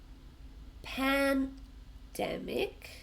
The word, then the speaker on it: pandemic: Pandemic has three syllables, but we also stress the same sound, the dem. Pandemic.